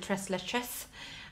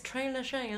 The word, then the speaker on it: Tres Leches: I hope I'm pronouncing that right, because in the beginning I used to pronounce it Tres Leches, and then someone told me it's Tres Leches, okay? So Tres Leches.